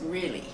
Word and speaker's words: Reyle: name and really uh is my last name spelled r e y l e but pronounced really uh and I'm 83